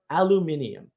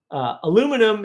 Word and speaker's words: aluminium: Or the best example I can give you is look up the history of the word aluminium and the inability of the United States to say it correctly. Aluminum is not the way you say that word.